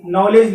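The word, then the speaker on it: knowledge: तो इसी प्रकार से देखिए यहाँ पर अगला वर्ड आता है आपका नाउन, नॉलेज लिखा हुआ है।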